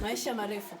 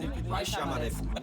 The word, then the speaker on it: maisha marefu: Maisha marefu. Maisha marefu.